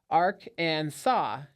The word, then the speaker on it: Arkansas: According to the Arkansas code, the name must be pronounced ark and saw with the silent final s.